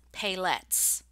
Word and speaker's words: paillettes: and the word is paillettes. Paillettes, that's how you say it.